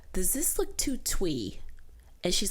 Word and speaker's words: Thuy: that use that word twee, Twee, how my name is pronounced, to describe something like girly or dainty.